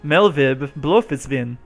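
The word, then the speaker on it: Merlwyb Bloefhiswyn: She pronounces it like it's German. Melvib Blofisvin.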